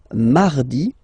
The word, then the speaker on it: mardi: So you can hear that you don't pronounce it that strongly, this R. Huh? Mardi, mardi, okay? You don't need to go too deep like mardi. No, no, no. You don't move your tongue, so it doesn't sound like mardi.